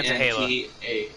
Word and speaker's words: Nantahala: Yeah, Nantahala.